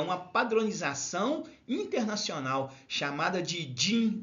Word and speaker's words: DIN: que chama simbologia da Norma din é d n mas a gente pronuncia din que é uma Norma